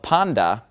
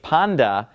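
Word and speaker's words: πάντα: ending right here that's on the end of panda and of course I'm pronouncing it Panda because the T whenever it comes after KN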